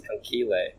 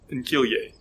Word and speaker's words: conchiglie: I thought it was conchile. It's conchiglia. Conchiglie. Yeah, conchiglie. Google has its, what's the word? Yeah, the... Y-A-Y. Yeah. Yeah, conchiglie.